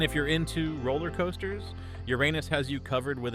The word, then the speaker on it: Uranus: you just kidding you'd still be vaporized instantly Uranus yes it's pronounced your anus get it out of your system you'd last